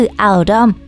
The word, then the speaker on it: Oldham: สะท้อน ให้ เห็น ถึง การ ออก เสียง คำ ว่า oldham ใน สำเนียง ท้อง ถิ่น นั่น คือ อัลด้อม ดัง นั้น เพื่อ เป็น